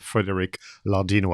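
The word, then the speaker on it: Frederic Lardinois: a key writer called frederick lardino i'll pronounce it the french way and now this year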